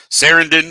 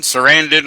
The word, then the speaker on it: Sarandon: Saran RPP yeah oh it's been pronounced different a lot of people have said sendan Sarandon like they' they've called her both yeah I've heard both